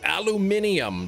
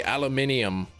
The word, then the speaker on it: aluminium: Oh, aluminum. That's right. You guys say aluminium. Yeah, you just jam another eye in there for some reason.